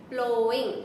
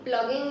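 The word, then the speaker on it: ploughing: प्लोइंग, प्लगिंग मत करना इसको, आप इसको क्या प्रोनाउंस करते हैं?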